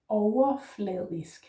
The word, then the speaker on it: overfladisk: The next one is overfladisk, which means superficial. It has 4 syllables. Overfladisk. Yeah. So first one is actually just OV. O. And note that the V becomes more like a U sound.